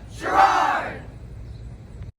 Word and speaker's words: Sherrard: r a r d that's the way you spell it here's the way you yell it gerard hi sixth grade we're going to play the